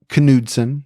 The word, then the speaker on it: Knudsen: Debbie Knudsen. Hey, Debbie. I'm always not sure if you say the K, but I'm pretty sure with that name you do say the K, right? It's Knudsen.